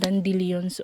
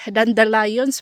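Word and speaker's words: dandelions: Nag-ano na ang mga dandilons oh. Lumalabas na po ang kanilang mga seeds. Dandalions pala ang correct pronunciation no.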